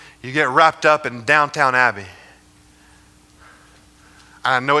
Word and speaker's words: Downton: in this life you get wrapped up in Downton Abbey I know it's pronounced Downton I just refuse to say that does that